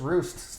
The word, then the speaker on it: Rust: very own CEO Stefan is it rust or roost yeah turn we've been saying it wrong this whole time apparently it's roost to fajn roofs I'm